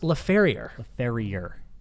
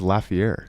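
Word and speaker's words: Laferrière: Okay, how do you say Alex's last name? Alex Laferriere. Alex Laferriere. I thought it was Lafayette. That's what I couldn't remember. I don't know. Lafayette, I think. I say Laferriere to him, and he doesn't say anything.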